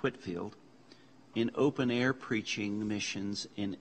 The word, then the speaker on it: Whitefield: The Wesleys partner with George Whitefield, actually it's pronounced Whitfield, in open-air preaching missions in England.